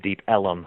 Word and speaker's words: Deep Ellum: Elm Street and uh everyone referred to it as deep Elum because that's how they pronounced Elm and so this area